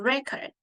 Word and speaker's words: record: first syllable however if I have another word like to record it's a verb so we usually stress on the second syllable to record and a series card